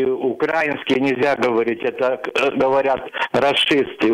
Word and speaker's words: украинский: Алекс, все-таки вы из Украины, и украинский нельзя говорить. Это говорят расисты. Украинский, украинец. Украина – это ударение на «и».